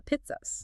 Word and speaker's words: Pitri: But the ruling deities of Magha are the Pitris. The pit, pronounced Pitri.